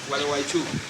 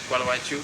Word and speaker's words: Gualeguaychú: Gualeguaychú. Gualeguaychú.